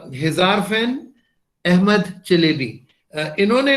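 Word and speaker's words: Çelebi: हिजारफन अहमद चलेबी. ये जो सी के नीचे कॉमा सा होता है ना, ये टर्किश में इसको चे प्रोनाउंस करते हैं.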